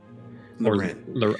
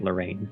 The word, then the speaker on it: Loren: I feel like I missed Loren. Loren I mostly was pronouncing it Lorraine, but yeah.